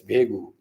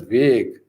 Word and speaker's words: vague: It's vegu." So, so all laughed, and then student said, "Sir, if you don't mind, it's not. It's pronounced as not as vegu. It's pronounced as vague."